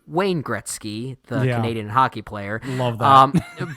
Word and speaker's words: Wayne Gretzky: heard all year yeah now obviously will jetsky is a mispronunciation of the great Wayne Gretzky the Canadian hockey player